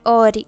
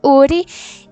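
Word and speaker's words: 우리: consigo ali identificar que aquilo ali não é um O, é um U. Então não é Ori, é Uri.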